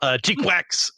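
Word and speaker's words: GQuuuuuuX: The newest Mobile Suit Gundam series, Mobile Suit Gundam, Cheekwax, that's how you're supposed to pronounce all those different U's, is out.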